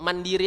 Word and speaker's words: Mandiri: bacanya cegah Bank Mandiri Bank Mandiri biasa aja nggak usah dibaca Inggris Inggris kan dia kalau bahasa Indonesia nggak usah dibahas bahasa Inggriskan Hai Cukup Mandiri aja ya baru-baru dash dash